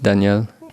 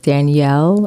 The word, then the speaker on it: Danielle: you like I know your name is is said like in French it sounds sorry say it again Danielle it sounds more like the boy way of saying it no because you